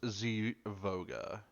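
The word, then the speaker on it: Zivoga: you and your associate zofoga um allow me to introduce you as he guides you over to the table great it's pronounced Z voga okay just making sure both a v not an F yeah it's x i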